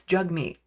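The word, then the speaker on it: Jagmeet: he said you know think jug like hug and actually yeah that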